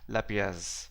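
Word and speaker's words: lapies: refer the collapsed sinks the next term is pronounced as lapias they look like this carved cut and you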